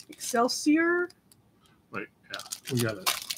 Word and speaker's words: excelsior: Excelsior. Excelsior.